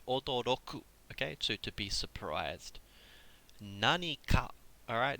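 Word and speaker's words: 何か: Nanika. Alright, notice that pronunciation. Nanika, not nanka. Nanika. Alright, there's a big difference between these words. I know it's crazy, but nanika means something.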